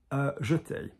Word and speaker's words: jeté: We have jeté. Did you hear what I just said? Jeté. What do we normally say in English in ballet? Jeté.